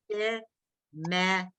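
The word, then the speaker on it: שמך: It's 3 syllables. She, me, and that in the final chaf, is a little ah. So let's make them really long. So it's she, me, cha.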